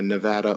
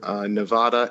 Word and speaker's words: Nevada: of the state and often correct people uh Nevada over Nevada and also uh to